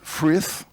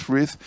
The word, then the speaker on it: Frith: s'appellent Uta et Chris Frith, un peu dur à prononcer, mais on a le droit de dire frites hein, si on veut, voilà, sont deux géants